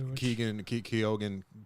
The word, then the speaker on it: Keoghan: Barry Keoghan was fantastic. If I'm pronouncing that correctly. Keoghan, yeah, he's always tough.